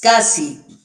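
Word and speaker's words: SCSI: se llama es casi se lo pronuncie es casi es otra de las formas raras de pronunciar como la que viste esto se lo produce como interfaz óscar pérez casi y viene de small small computer system interface y bueno era mejor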